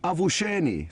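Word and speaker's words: avuxeni: the same tribe, is avusheni, spelled A-V-U-X-E-N-I. So the X's are pronounced as sh. So avshen means good morning.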